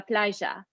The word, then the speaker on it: playa: However, in Argentina, it makes a sh, like a sh, a sh sound. So words that we've seen before, such as me llamo, which means my name is, would be pronounced me llamo. And the word, for example, la playa, as we've learned, that's the word for beach, would be la playa.